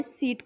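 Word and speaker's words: seat: इसलिए हम word सीट को स ई ट ऐसे रीड करते हैं। यहाँ पर हम ई का लॉन्ग साउंड ई यूज़ करते हैं और वॉवेल ए को साइलेंट रखते हैं।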